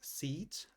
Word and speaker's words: seat: Pay attention to the pronunciation difference. The first one is seat. The second one is sit.